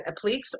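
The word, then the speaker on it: appliqué: that's so cute wait it's not appliques it's appliques you guys taught me how to pronounce it last week applique not appliques let's scroll down four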